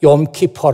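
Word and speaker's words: יום כיפור: 지금도 이스라엘 사람들은 이 나를 지키고 있습니다 그날을 욤 키퍼 라고 하지요 발음이 욤 키퍼 어항 사람이 0 키퍼 락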